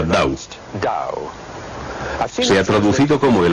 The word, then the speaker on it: Tao: En Occidente se escribe T-A-O, aunque se pronuncia Dao.